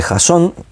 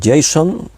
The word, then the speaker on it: Jasón: Tenemos a este Jasón, hay quien lo pronuncia Jason, pero eso es más americano del inglés.